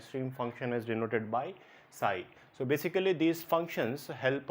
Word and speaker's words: psi: phi and stream function psi. So this symbol is called as phi, phi, phi, and this symbol is called as psi, psi, psi, where p is silent. So it is called as psi.